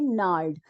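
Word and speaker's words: gnarled: उसको बोलते हैं नार्ड यहां पे जी साइलेंट होता है जी साइलेंट होता है जी का प्रोनंसिएशन हम नहीं करते हैं लेकिन जब ये वर्ड बना था नार्ड ओल्ड इंग्लिश में उस समय ये जी साइलेंट नहीं था लेकिन धीरे-धीरे क्या हुआ कि लोगों को प्रोनाउंस एशन में प्रॉब्लम होती थी तो धीरे-धीरे लोगों ने उस जी को बोलना ही छोड़ दिया और वैसे ही ये प्रोनाउंस एशन इसका नार्ड हो गया लेकिन स्पेलिंग इसकी चेंज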